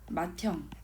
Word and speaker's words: 맏형: 이따 뒤에서 이제 이거는 모음 축약, 자음 축약에서 배울 내용인데 맏형 이거 어때요? 디귿하고 히읗이 합쳐져서 티읕이 되잖아요. 맏형, 그쵸?